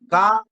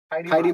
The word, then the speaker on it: か: করে ইউমিকাতা Ka, ku. কাখো। Kako. কাকো। আরেকটা জিনিস আমি বলতে ভুলে গেছি, জাপানিসে আমরা এটা লিখেছি কা লিখেছি, তো জাপানিসে এটা উচ্চারণ হয় খা।